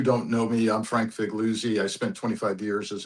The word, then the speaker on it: Figliuzzi: We're joined by Frank Figliuzzi, if I got your pronunciation of your name correct. You get an A for effort, a B minus for pronunciation. It's three syllables. Figliuzzi.